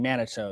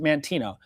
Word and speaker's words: Manteno: I think I keep saying Manito, as well. Judy is saying pronounce it Manteno.